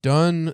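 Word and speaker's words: Donne: they don't read Shakespeare next up is John dun The Apparition 1633 a little more modern John Dunn I'm assuming I say his name d o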